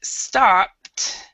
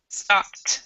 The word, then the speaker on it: stopped: that with this word stopped the E is silent so you don't pronounce the e at all okay so and then